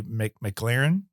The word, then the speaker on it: McLaren: McLaren, am I pronouncing that right?